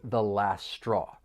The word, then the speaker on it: last straw: For pronunciation, elision may occur. This is when sounds or syllables get removed. So the final t and last, it comes between two consonant sounds. So it's going to collide. You're not really going to hear it. The last straw or the final straw?